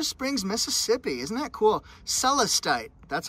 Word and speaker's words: Celestite: made in blue springs mississippi isn't that cool celestite that's how you pronounce it celeste gray it's named after a